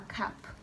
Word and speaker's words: cap: c-l-a-p is what club that ap ending is up this is a cap then when you add e that's when it changes so when you say cape that's that long thing that superman wears that's a cape t-a-p-e then becomes tape r-a-p-e becomes rape uh d-r-a-p-e is drape so when you add the e then the a sound changes to a but for as long as there is no it's up this is a cup guys